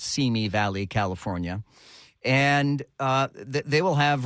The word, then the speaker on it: Simi Valley: That is the proper pronunciation, by the way, of that. It's Simi Valley, California.